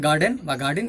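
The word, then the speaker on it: garden: এটা গার্ডেন উচ্চারণ কিন্তু মানে গার্ডেন বলা যাবে না, আর কে উচ্চারণ করা যায় না, কেমন, সাইলেন্ট আর, এটা উচ্চারণ হবে গার্ডেন বা গার্ডেন, এভাবে বলা যায়, ইউ হ্যাভ আ গার্ডেন, তাহলে তোমাদের একটা বাগান আছে, কেমন।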